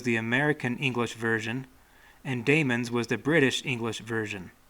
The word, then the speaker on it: daemon: word and meaning now it could be argued that both words should be pronounced the same but that almost wouldn't make sense to me because they mean different things so why would they be pronounced the same if they mean something different the entomology of both words is probably significant so at least in my mind I want to say Damon for the Damon word and Demon